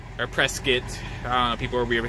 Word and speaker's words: Prescott: you guys Oh Prescott Arkansas that's right our press kit people really how they pronounce things but then smooth sailing say miss